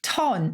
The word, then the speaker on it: ton: And I think you should pronounce it with a French lilt. Because it's like chic. It has a certain ton about it. It's ton rather than ton, I think.